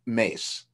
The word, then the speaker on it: Myss: oprah was interviewing caroline mace um myss is how you spell it and i think you pronounce it mace but she's she's interviewing